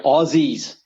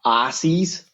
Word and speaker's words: Aussie: the big one Aussie we are Aussies not Aussies you know Ozzy Osbourne it's exactly like that spell it with a z mate or Z's as